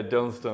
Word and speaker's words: Dunstan: we got my guy Dunstan in the building. I said it right? Yeah, Dunstan.